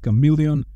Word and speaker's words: CM3leon: CM3leon, which is somehow supposed to be pronounced chameleon, requires 5 times less compute and smaller datasets than most similar state-of-the-art models.